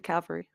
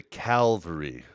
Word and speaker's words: cavalry: the cavalry show the cavalry it's just the cavalry and not to be confused with the Calvary it's the cavalry yes so many people yeah so many people mispronounce it I think row does